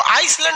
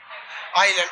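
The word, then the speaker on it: island: आइलैंड में ना S silent रहता है। इसको आइसलैंड नहीं पढ़िएगा, आइलैंड। आइसलैंड तो इस तरह लिखाएगा, आइस लिख के लैंड। ये क्या होता है? आइलैंड। इसमें एल एस क्या रहता है? साइलेंट।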